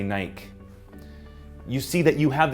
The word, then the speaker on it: Nike: Or Nike, you want a name like Nike. It's mispronounced in most countries around the world. Most people say Nike.